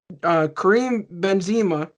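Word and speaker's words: Karim Benzema: and do what they got to do, because Kareem Benzema, I believe that's how you say his name.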